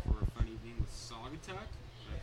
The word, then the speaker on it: Saugatuck: We're getting ready for a fun evening with Saugatuck. Did I pronounce that right? Saugatuck, got it right.